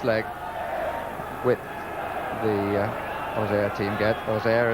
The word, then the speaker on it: Auxerre: Auxerre, as they pronounce it in Auxerre. Auxerre and most of the rest of France.